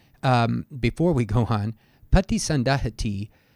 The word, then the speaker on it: paṭisandahati: before we go on Pati sundahati would end with a short I we have a long eye here because it is followed by this T marking the end of a quote or question in this case Tero